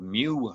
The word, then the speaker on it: mu: expensive that are called mu metal. Mu is like MU, like something a cow or a cat might say. I think a cat was more likely to say mu.